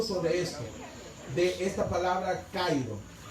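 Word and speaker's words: χαίρω: Y en griego se dice kairo.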